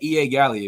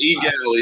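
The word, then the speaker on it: Eau Gallie: I keep saying E.A. Galley. If you was watching this live, it's E. Galley. It's the E. Man, that's what some people say E. Galley. Some people say R. Galley.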